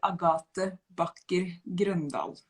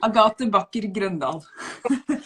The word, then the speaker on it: Agathe Backer Grøndahl: So in Norwegian, I would say Agathe Backer Grøndahl. Yeah. But I repeat, Agathe. You say. Yeah, Agathe Backer Grøndahl.